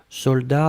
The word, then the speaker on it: soldat: Je regarde, vous l'avez bien écrit, attention save the best, soldat avec un T final, on ne prononce pas le T, mais logiquement il devrait être là, d'accord?